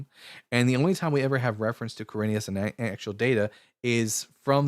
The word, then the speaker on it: Quirinius: Yes, also it is Quirinius, by the way.